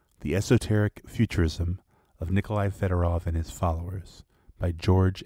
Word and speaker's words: Fedorov: directions was Nikolai federovich federov 1829 to 1903 pronounced and sometimes transliterated fiodorov an eccentric abius 19